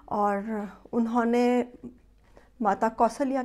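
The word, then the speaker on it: कौसल्या: हम माता कौशल्या को माता कौशल्या कहते आए हैं, जबकि सही उच्चारण माता कौशल्या है।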